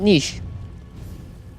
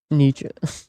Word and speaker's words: Nietzsche: It is Nietzsche. Ernesto, welcome back. You're speaking German, you could argue that, but you aren't. But I am European. I know some about German. And I can tell you that his name is not pronounced niche.